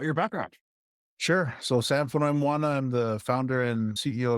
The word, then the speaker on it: Fonoimoana: You probably have someone last name you got to pronounce. So it's Sam Fonoimoana.